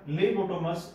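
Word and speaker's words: Phlebotomus: ठीक है, इसका साइंटिफिक नेम क्या है, लेबोटोमस अर्जेंटिपस. जो पीएच है ये क्या रहेगा, यहाँ पे ये साइलेंट रहता है, क्या नाम हो गया, लेबोटोमस अर्जेंटिपस.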